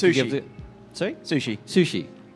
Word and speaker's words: Msushi: Sushi. Oh, the M is silent, is it? Yeah, like Bison.